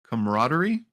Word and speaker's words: camaraderie: of that and I can't say this word camaraderie yeah you said it right got it that